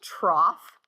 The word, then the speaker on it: trough: That's pronounced trough. It's one of those ug words in English that they all end in o u gh and they all are pronounced differently, right? We got though and cough and bow and oh my gosh. Anyway, this one's trough.